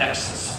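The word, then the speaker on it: XaaS: We've got IaaS, we've got PaaS, we now have Exes, rhymes with texts.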